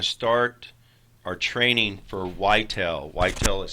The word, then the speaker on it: Ytel: Whitel is spelled which you will shortly discover.